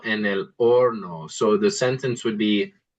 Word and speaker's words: horno: And then let's try el horno. El horno. Yeah, good. That's the oven. And good job not pronouncing the H. Remember, H's are not pronounced in Spanish.